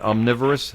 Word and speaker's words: omnivorous: I I think I mispronounced that. Is that omnivorous? Is that omnivorous? I should have said omniv. Yeah, omnivorous.